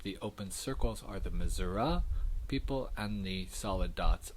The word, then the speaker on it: Missouri: A well-known difference here, the pronunciation difference between Missouri and Missouri for that final vowel in the name of our state.